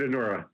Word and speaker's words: Anura: We say it Anura.